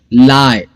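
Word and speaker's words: lie: Okay, लाई, इसमें भी 3 letters है लेकिन साउंड सिर्फ 2 है। LI, लाई और ई साइलेंट हो गया।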